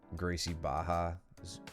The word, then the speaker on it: Gracie Barra: force use the force imagine thinking R sounds like an H so weird it's always funny to me when you still when you hear people who do Jiu Jitsu pronounce Gracie Baja Gracie Barra but I kind of